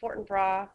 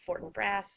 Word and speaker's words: Fortinbras: of the play and i've heard fortinbra i've also heard fortinbras so i don't really care how you say it because i've heard it both ways basically we have a